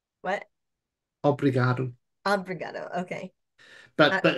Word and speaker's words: obrigado: Obrigado. What? Obrigado.